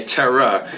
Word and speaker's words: Tara: Especially being a New Yorker, we don't pronounce the words that like have the R at the end. It's always ah. So if you're talking about terror, I say a terror, just like her name.